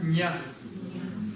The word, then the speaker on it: ཉ: То есть по-русски, когда пишем, мы записываем его вот так, через мягкий знак ня. Очень часто люди этого не слышат, мягкий знак не пишут, произносят как ня. Ну, ня, ня, чуть-чуть различается. Давайте писать, если будем записывать кириллицей, как ня.